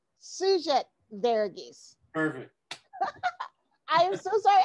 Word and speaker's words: Sugith Varughese: It's Sugith Varughese. Sugith Varughese.